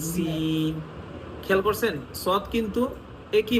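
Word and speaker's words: س: যেমন সদ উচ্চারণ করলে একটু আওয়াজটা মোটা করতেছেন সদ আপনার সিন বলার সময় আপনি কিন্তু আওয়াজটাকে পাতলা করতেছেন সিন খেয়াল করছেন সদ কিন্তু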